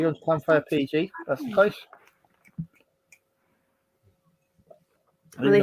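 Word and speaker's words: Llanfair PG: I can tell you how to pronounce it. It's Clanfire PG.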